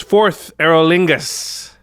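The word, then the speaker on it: Forth Eorlingas: All right, the next one is 4th Éorlingas. It is like go forth or call forth.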